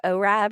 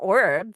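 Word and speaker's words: Orab: Do you say orb or do you say Ora or how do you how do you say it? Orb. Okay. Cuz on the show they were saying like Ora or something and I'm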